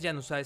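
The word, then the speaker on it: Januzaj: Manchester United a bman yanai o yanai yo digo que es yanai según yo se pronuncia yanai y vean el el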